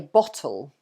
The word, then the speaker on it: bottle: So in American English, they don't pronounce the T so strongly. So this word, so in England, you would say bottle. So bottle, so bottle. So it's T, the T sound.